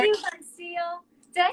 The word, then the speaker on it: Voncille: How are How you, Voncille? Did I say your name right? Huh? Voncille, yeah.